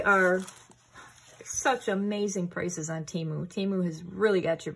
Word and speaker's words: Temu: even though they are such amazing prices on teu teu has really got your back and for those of you who are still wondering I know they had a football commercial where it was Timo timu timu whatever I messaged um timu because